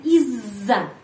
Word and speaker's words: из-за: Kompleks Kenapa Kompleks karena terdiri dari dua bagian bacanya Iza Iza Iza Hai artinya disebabkam Polri atau karena